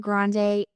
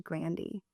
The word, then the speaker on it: Grande: name right yeah actually everyone's been saying her name wrong for like ever since she's been famous it's actually Grandy what yes I learned like fast food restaurant Grandy's is that yeah the